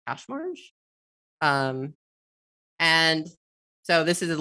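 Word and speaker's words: Kaczmarz: algebra algorithm called randomized, I think it's pronounced cache-marge.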